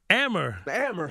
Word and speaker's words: Amer: Amer. Why did you say it right the first time? She messed with you so bad. Amar, you made me Muammar Gaddafi now and everything.